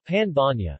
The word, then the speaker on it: pan bagnat: the pan magnet pronounced part of the power of n ba pan Vanya and alternatively in French as pain magnet is